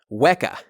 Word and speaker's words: weka: could be a chess competition next we have weka weka is drawn with four lines at every diagonal pointing out and it is spelled w e k a weka weka has